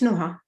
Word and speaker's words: Noah: first how do you say your name it's Noah no I know I love the way you